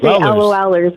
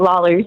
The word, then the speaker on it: Lawlers: You always say LOLers, but I actually pronounce it Lawlers.